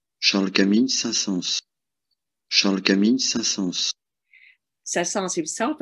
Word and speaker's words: Saint-Saëns: intellectuals often still use the traditional pronunciation without S at the end, but the pronunciation with S is now very common in French, even among radio announcers. Charles Camille Saint-Saëns.